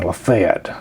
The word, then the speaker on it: LaFayette: uh the name LEF uh and that the pronunciation lefet uh that's how we know whether or not